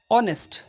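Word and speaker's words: honest: ना आपन कह देखु एन ऑनेस्ट ना नहीं ऑनेस्ट एचटा ऑनेस्ट एच एन ऑनेस्ट हम ओके ना आपन कह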